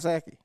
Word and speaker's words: Psaki: Go ahead and get comment the hashtag Circle Back Saki, and it's spelled unfortunately PSAKI. The P stands for privilege. So that's why it's silent.